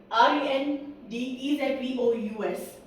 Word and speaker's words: rendezvous: Moving to third word r e n d e z v o u s.